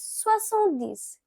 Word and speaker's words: soixante-dix: Now 70, it is pronounced as soixante-dix.